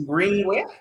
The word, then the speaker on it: Greeningway: So it's spelled with, there's just one N in between. One N, okay. Greeningway. Pronounced as Greeningway, but then it's Greeningway.